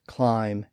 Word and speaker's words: climb: b in his plays words like climb and dumb and lamb were all spelled without a be he also rhymed clim